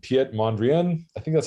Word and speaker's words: Piet Mondrian: art generator so uh there's this artist called piet mondrian i think that's how you pronounce it i'm not sure exactly we always